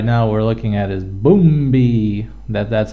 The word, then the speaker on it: Bumbi: One of the shows right now we're looking at is Bumbi. That's how they call it, that's how they pronounce it, Bumbi. Not Bumbi or something like that. No, Bumbi. They got all kinds of kids dancing around.